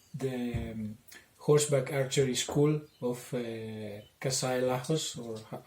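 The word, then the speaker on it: Kassai Lajos: training, especially about the horseback archery school of Kasai Lajos, or how, if I've pronounced his name correctly. Lajos. Kasai Lajos.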